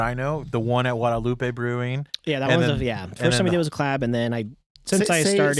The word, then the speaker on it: Guadalupe: Guadalupe? See that? That's the correct pronunciation right there. Guadalupe Brewing. That is how you say it.